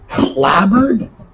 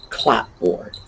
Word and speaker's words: clapboard: Well, what we have here is clabbered and cupboard. Although it looks like clapboard, and I've actually heard many people make that mispronunciation, clapboard. No, clabbered.